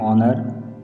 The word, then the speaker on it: honor: यूज़ एन with words that begin with a silent H. Examples, an hour, an honor, an honest man.